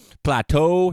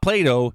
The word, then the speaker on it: Plateau: Westwood, Plateau, not Plato, Plateau. Plato is a philosopher. It's spelled differently.